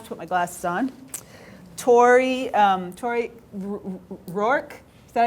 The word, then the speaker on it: Tori Rourke: We also have with us, and now I have to put my glasses on, Tori Rourke. Is that how you pronounce it?